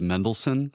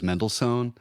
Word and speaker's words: Mendelssohn: I was told, I know that the correct pronunciation is Mendelssohn, but everybody else on staff says Mendelssohn.